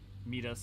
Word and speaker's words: Midas: Midas is correct Greek pronunciation, if that matters.